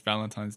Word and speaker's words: Valentin: there yeah and so it's not Valentine's by the way in French it's Valentin Valentin so don't go wishing